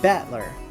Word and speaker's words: Battler: It's made up of the characters fight and person, and it's pronounced Battler.